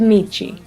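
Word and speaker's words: Meche: from M-E-S-H-E to M-E-C-H-E, as well as the pronunciation from Mesh to Michi.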